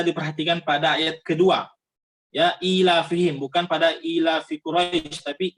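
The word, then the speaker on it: إِيلَافِهِمْ: pada ayat kedua ya ilafihim bukan pada ilafi curafix tapi ilafihim ilafihim disitu sama sekali tidak tertulis padanya ya tapi di sana ada pengucapan huruf ya ilafihim bisa diperhatikan diet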